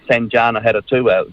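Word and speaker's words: Sanjana Hattotuwa: He's tried very hard on multiple times to score own goals, but what I'm missing here is the input from Sanjana Haratua, that's how you say his name, and Kate Hanna.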